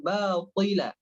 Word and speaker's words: باطلا: Berikutnya adalah di kata batila. Nah, di sana hurufnya to bukan ta.